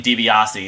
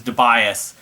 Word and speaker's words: Tobias: guitarist uh joe tobias i used to say his name dibiase it was tobias as the original longtime